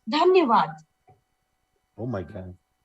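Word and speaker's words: धन्यवाद: It's like, Dhanyavad. Oh my God. Dhaneva?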